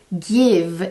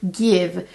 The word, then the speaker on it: GXVE: stefani's new makeup line give it's actually g x v e that's how it's spelled but it's apparently pronounced give so apparently that's how she signs her name gx so it's give it's kind of play